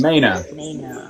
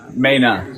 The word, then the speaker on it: Mainers: It's Maina. Maina. Yeah, we don't pronounce our R's.